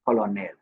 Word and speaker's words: colonel: L is not pronounced colonel as incorrect. It's pronounced the word here. Remember this is not the spelling K E R N E L is not the spelling.